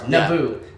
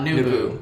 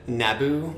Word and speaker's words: Naboo: In Star Wars, Naboo, not Nubu, not Nubu or what'd you call it? Naboo. Naboo.